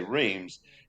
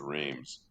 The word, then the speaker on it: Reims: But if we say Reims, it's completely wrong for what they would say, but it's yeah. spelled that way. So Uh, yeah, we came to consensus. We'd use Reims, and every time I said did it, you?